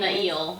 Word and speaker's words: Niall: And Niall, whatever his name Nail. is. I think that's what we... Okay, wait. That's what we're deciding that's how it's pronounced, is Nail.